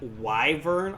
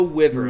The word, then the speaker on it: wyvern: You mean the That's not how it's pronounced. But bro, I've never heard that pronounced in the such a man. If you say wyvern, I'm going to explode. It's It is so wiver. It is not a wyvern. Why would you go why bird?